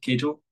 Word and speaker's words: Cagle: Nicollet Kel I'm sorry am I am I pronouncing your your last name correctly Kel good thank you uh she is a faculty